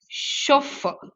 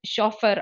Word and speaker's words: chauffeur: drive பண்றவங்க chauffeur okay so இந்த word எப்படி pronounce பண்றாங்கன்னா it is chauffeur okay so this is how you have to